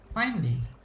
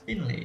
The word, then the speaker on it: Finley: Finally. Finley. Wait, likewise. Gimana kok kemarin? Finley. It's Finley, not finally.